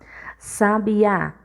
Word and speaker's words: sabiá: Sabiá. Gente, quando uma palavra tem um acento, sempre a sílaba tônica vai ser a sílaba que está o acento. Então, sabiá, a sílaba tônica é o A, certo?